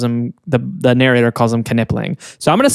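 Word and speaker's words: Knipling: they're all wrong and it's nippling because the K is silent in a word like that.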